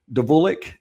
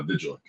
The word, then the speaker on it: Vulich: And Vulich D'vulik. Did I pronounce that right? I I have such a hard time pronouncing your last name. help me out. You and everybody else, Ryan, it's uh Vigil.